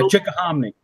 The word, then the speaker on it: Chickahominy: I was wondering how you pronounce that. Yeah, Chickahominy.